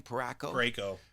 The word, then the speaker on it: Parayko: Parayko.